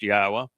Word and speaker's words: Yahweh: And it's all for you to learn who Yahweh is, why we know that his name is pronounced Yahweh, and what he is offering through his Bereth